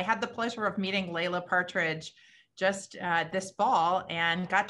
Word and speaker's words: Laila Partridge: I actually pronounce it Laila. So Laila Partridge, no worries.